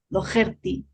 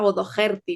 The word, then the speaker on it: O'Dogherty: te contaba que que mi abuelo pues lo pronunciaba en castellano y con ese acento entonces decía odti no como si tuviera una j y pues nada no